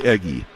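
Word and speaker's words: Eguy: the third base but he spells his first name u y I had to check the pronunciation guide on that one and they say it's eggy there's a swing and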